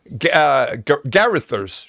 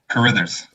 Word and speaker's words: Carithers: Garithers. Is that the way you pronounce it? Did I say it right? Carithers. Carithers, almost there.